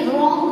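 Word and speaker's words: wrong: इसमें भी W है लेकिन W को बोलेंगे नहीं, रॉन्ग बोलेंगे। W है वो यहाँ पे साइलेंट रहेगा, नाइट, है ना।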